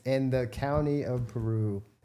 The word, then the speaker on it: Peru: Peru, yes. Like the country? It's spelled exactly like the country.